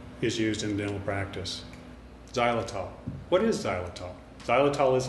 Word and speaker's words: xylitol: aren't familiar with it xylitol is actually spelled with an x pronounced with a z let's do some homework